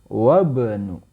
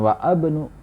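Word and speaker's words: وابن: Ibnu Muhammadin fil iraqi wabnu ya bukan wa abnu bukan wa Ibnu maka di sini adalah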